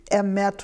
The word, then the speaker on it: Emeth: Well, literally, it should be Emeth would be the correct Emeth. Hebrew pronunciation, but nobody ever says that. So we say Temple Shalom Emeth. Emeth, okay.